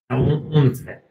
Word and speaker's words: 音声: So when it comes to pronunciation, this book, 音声を教える。音声 Let me check that real quick. 音声 Onse.